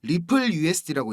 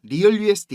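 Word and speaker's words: RLUSD: 전망이 됩니다 자 형님들 rl usd 이거 이거 뭐라고 읽어야 된다 그랬죠 리플 usd고 읽는 겁니다 리얼 usd 이거 아닙니다 갈링하우스가 그 암스테르담에서 스테이블코인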